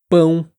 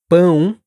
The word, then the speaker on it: pão: Bom, hum, todas essas palavras t uma vibração que acontece aqui, ó, perto do nariz. E muitos falantes em inglês acabam pronunciando esses sons eh de forma mais oral, sem essa nasalização.